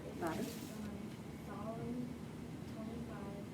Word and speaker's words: Psalm: The following prayer is based on Remember that P is silent in this book of the Bible. The following prayer is Got it. based on Psalm 25.